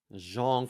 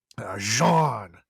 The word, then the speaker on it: Jean: here Jan yes uh you're right it's Jean Jean for for the we do have listeners in French in France and and Belgium so I should say it correctly Jean so apologies to uh anywh who when he's